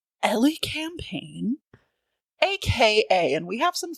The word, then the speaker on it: Elecampane: So, yeah, as I said, it is pronounced Ellie Campaign aka, and we have some fun ones, but they're not too wild.